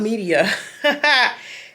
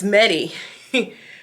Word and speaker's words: MediAcous: And it's it's not Media. It's MediAcous. It looks like MediAcous. So I'm still probably saying it wrong.